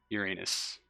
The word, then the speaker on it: Uranus: want to pronounce it I am told however that the correct pronunciation is Uranus extra sorry all right